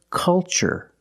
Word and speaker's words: culture: ch the first word culture and the second word cultural also remember the first syllable is a short u like cup and up uhuh make a relaxed